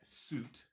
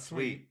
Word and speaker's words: Suit: it but uh Matt suit I appreciate you saying it right now Matt if you're watching suit thanks for squaring him up it's not sweet look at me that's